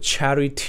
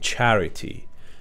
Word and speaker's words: charity: خب تلفظش خیلی باله، charity نمیگن، charity. charity. خب یه صدای دی طوری میاد، charity خیلی سریع که میگن ارومان charity. اوکی؟ charity نوشته میشه ولی تیه خیلی تلفظ نمیشه.